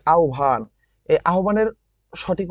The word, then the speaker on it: আহ্বান: আহ্বান গল্পের ভিতরে কি কি আছে দেখো, এই যে আহ্বান, এই আহ্বানের সঠিক উচ্চারণ আহ্বান।